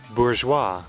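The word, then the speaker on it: bourgeois: Let me I don't know how to pronounce it. Hold on. Bourgeoa.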